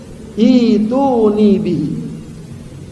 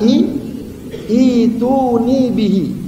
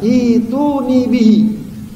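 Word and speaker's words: ائتوني به: guru yang mengingat mengingatkan kalau lihat tulisannya kayaknya baca bukan ituni tapi cara baca yang benar i ituni bihi jadi seakan-akan tidak ada hamzahnya ya dibaca panjang ituuni bihi ya apa maksudnya bawa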